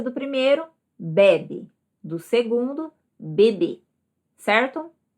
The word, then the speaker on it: bebê: Com o acento circunflexo, então, se torna bebê e não mais bebe, certo?